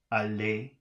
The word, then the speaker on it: allez: How do you pronounce the underlined letters? You don't, because it's got, it's got E and Z underlined together. So I guess that's allez.